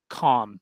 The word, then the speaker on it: calm: As well, you very infrequently, you will also see it like in the word calm as an AL, and the L will be silent.